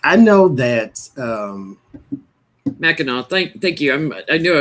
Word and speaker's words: Mackinac: in the daytime like i know that um mackinac thank you i knew i was missing it i i could never i'm tongue-tied lately i don't know if mercury's retrograde yet but you told me mackinac when you first said it though yeah so